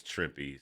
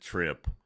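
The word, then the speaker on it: Trimpe: right here you see herb tripy just says tripy so it is pronounced tripy by the way I always I I always said it was as a kid I pronounced it trimp I didn't know better but yeah it is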